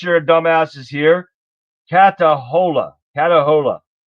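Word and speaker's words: Catahoula: Katahola is how it's pre pronounced pronounced.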